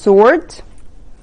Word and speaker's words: sword: اللي هو السيف اوكي سورد طبعا هي فيها W لكن انا مش بنطق ال W بقول سورد على طول هنشوف كده الكلمة مع بعض كلمة sword okay sword اللي هو